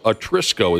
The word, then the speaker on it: Atrisco: school is called Art Atrisco Atrisco is how you say it Atrisco Heritage High School